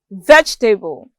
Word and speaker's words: vegetable: the correct answer is a first syllable is pronounced vegetable i'm sure with all these you can tell